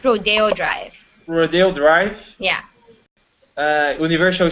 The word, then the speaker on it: Rodeo Drive: Diego Pier um uh R Hills M uh rodo Drive Rodeo it's pronounced Rodeo Drive rodo Drive yeah uh Universal Studios M um